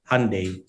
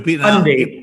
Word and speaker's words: Hyundai: Paano mo ba Hyundai. pinopronounce yan? Kasi ako Hyundai eh. Hyundai. Hyundai. Okay. Yes. Silent Y.